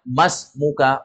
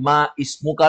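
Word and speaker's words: ما اسمك: Hamzah wasal di sini kalau seperti ini kaidahnya maka Hamzah enggak dibaca anggap aja dia enggak ada langsung masuk ke huruf berikutnya berarti bacanya masmuka bukan Ma ismuka lagi karena harakat I itu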